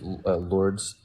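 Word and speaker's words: Lourdes: can look it up lord it's spelled l-o-u-r-d-e-s and one of the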